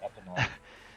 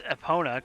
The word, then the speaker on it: Epona: horse hey horse EPA name your horse EPA it's Epona come on I hi